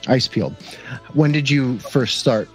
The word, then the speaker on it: Icepield: Now, how do you pronounce Icepield? Is that how you... That's exactly how you pronounce it. Icepield.